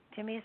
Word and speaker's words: Timaeus: Timaeus, is that the right way to pronounce it?